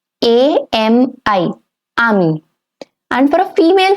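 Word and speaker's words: amie: A-M-I. Ami. And for a female friend, it's going to be ami with the same pronunciation but with an extra E to it. Ami.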